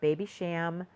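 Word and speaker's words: Babycham: Dear, and it was a play on the Baby Sham, that's the way you pronounce it, the Baby Sham uh beverage that um was created in the UK in 1953.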